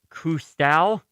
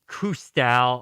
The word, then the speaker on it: Cousteau: Pierre de Coubertin, Jacques-Yves Cousteau, Alexander Gustave Eiffel, or Charles Julius Guital?